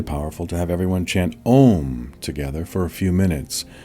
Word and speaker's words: Om: To chant Om, you sing a long, deep, resonant note with the syllable Aum, holding it as long as you can, repeating it over and over.